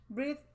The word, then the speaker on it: breathe: That would be, Breathe in. yes. And it's spelled like breath, except for a final E. They've added an E to it, so it's breathe.